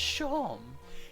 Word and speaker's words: Seam: The name's Seam, pronounced Shawm, and this is my little shop.